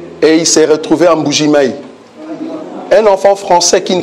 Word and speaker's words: Mbuji-Mayi: Et puis la prononciation, Mbuji-Mayi.